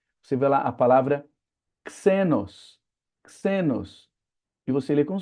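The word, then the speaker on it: ξένος: Então é é que pronunciam xenos com o som errado do X, porque o X, como a gente já falou, não tem som de xícara, ele tem som de táxi, então é xenos, é estrangeiro.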